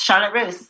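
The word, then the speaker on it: Charlotte Russe: president and CEO of Charlotte Charlotte Roose if I'm pronouncing that correctly yes Charlotte Rose perfect so another clothing retail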